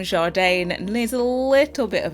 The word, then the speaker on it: JARDANE: So it's JARDANE. That's exactly how you pronounce it.